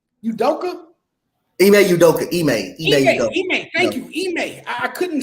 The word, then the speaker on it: Ime Udoka: They didn't show up, and when you make how you pronounce his name? Udoka. Ime Udoka.